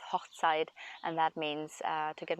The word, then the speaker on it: Hochzeit: when we say Hochzeit, if you pronounce it together, it's Hochzeit, and that means to get married, a wedding.